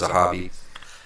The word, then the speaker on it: Zahabi: and that's how you properly correct his name, pronounce his name. He says it's Zahabi.